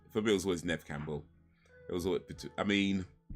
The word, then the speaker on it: Neve Campbell: I don't know how many people know that, but yeah, it's actually Nev Campbell, not Neve Campbell. It's pronounced Nev Campbell.